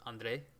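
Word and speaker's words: André: Oh, it's a French name, right? So it's spelled Andre, but it's got the E with the accent aigu from the Frenchness, so it sounds like an A sound.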